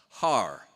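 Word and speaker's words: Haarer: on my birth certificate is spelled h a a r e r har nice to meet you it's German I've got a lot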